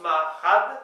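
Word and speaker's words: marc'had: Donc ça s'écrit en gros Marchad, mais ça se prononce Marchad, vous voyez.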